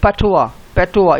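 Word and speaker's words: patois: Considered a form of पैटोवा, इसमें S silent है ना।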